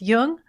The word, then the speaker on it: Jung: just be sure to pronounce jung with a hard j links to amazon's new